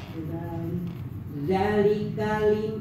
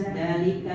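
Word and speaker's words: ذٰلِكَ: Zalika lamin, Iya. bukan liman. Iya, sekali lagi. Zalika lamin, bukan dalika liman.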